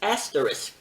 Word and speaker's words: asterisk: you to remember that not pronouncing asterisk with a risk at the end may cause you to be at risk with picky english teachers and pronouncing it as